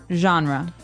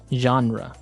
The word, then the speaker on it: genre: We say genre. Genre. Word. Genre. This kind of sounds French.